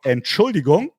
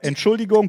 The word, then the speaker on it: Entschuldigung: Last time we talked about Entschuldigung. Can you repeat it, please? Here's how you spell it, or how you Entschuldigung.